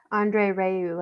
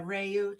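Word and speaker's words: André Rieu: got some opera singers he does funny yeah Andre Rieu I think is how you say his name okay yeah reyu thank you yeah he does such fun he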